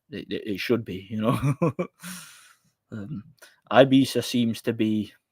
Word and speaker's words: Ibiza: Ibiza seems to be. Why am I calling it Ibiza? It's Ibiza, but it's spelled Ibiza.